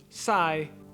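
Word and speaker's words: say: It's pronounced sai. In Vietnamese, the letter S represents a retracted S sound, which is closer to sh.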